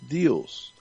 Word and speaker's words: Deus: Like Zeus, but Deus.